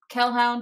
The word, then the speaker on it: Kelhound: You can also find me on Twitter at Kelhound, which is spelled like Hellhound, but with a K.